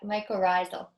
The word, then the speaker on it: mycorrhizal: Tamara's asking, is it too late in the season to apply, I'm going to maybe not pronounce that right, mycorrhizal? Yeah, mycorrhizal.